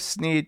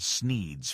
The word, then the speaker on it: Sneed: lies the shop called Sneed's Feed and Seed, where feed and seed both end in the sound "eed," thus rhyming with the name of the owner, Sneed.